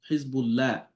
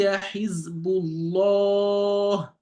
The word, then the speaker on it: حزب الله: So you not say Hizbullah, la. أولئك حزب الله. See, so the law, it's going to be around in your mouth and you pronounce it heavily.